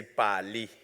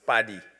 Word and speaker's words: Pali: Some say Pali. Many of us in Southern Africa, we know it's pronounced Paddy, with like a D, with his mantra, intergovernmental relations on matters of data.